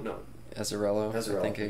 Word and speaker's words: Azzarello: Brian Azzurro? No. Azzarello.